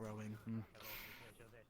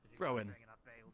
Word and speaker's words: Rowan: tree like called that Rowan pronounced his name as rowing but no not rowing Rowan oh it's like you